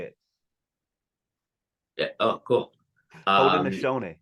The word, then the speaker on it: Haudenosaunee: Haudenosaunee. Haudenosaunee. I had such difficulty trying to pronounce that. It's hard until I heard you say it. Yeah. Oh, cool. Haudenosaunee.